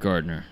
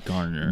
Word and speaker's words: Garner: loose cigarettes who eric gardner eric gardner garner gardner everyone pronounces it wrong it's garner the the cop who